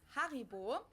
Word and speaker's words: Haribo: We pronounce No. it Haribo.